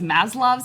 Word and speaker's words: Maslow: As I earlier called it, is Maslow's hierarchy of needs, but I got the name wrong. It's Maslow.